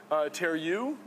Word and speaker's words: Terreux: this is indicated by the word tear you I guess is how you say that which is loosely French